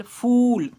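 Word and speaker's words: full: जैसे में एफ U double L फूल ऊ पढ़ रहे हैं।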